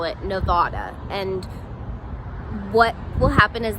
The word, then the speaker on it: Nevada: Nevada is pronounced just like I said it, Nevada. If a lot of out-of-towners call it Nevada, and what will happen